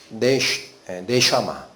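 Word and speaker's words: נשמה: 이건 뭐예요? 네샤마 라고 읽힙니다. 히브리어로. 이게 숨, 영인데, 그래서 이 영으로 의미를 받으니까 사람이 뭐가 된 거죠?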